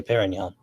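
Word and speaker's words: Pérignon: Okay, it's pronounced Perignon. Okay, Perignon.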